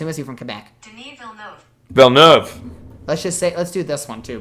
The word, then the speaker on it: Denis Villeneuve: Denis Villeneuve. Denis Villeneuve. It is silent in French.